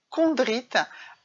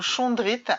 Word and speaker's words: chondrite: C'est une météorite chondrite, ou chondrite, alors ça s'écrit C-H-O-N-D-R-I-T-E, voilà, c'est une pierre qui nous